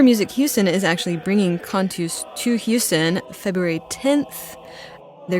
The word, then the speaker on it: Cantus: Well, Aaron Humble and Paul Rudoi of Cantus, I said it wrong at the beginning, Cantus.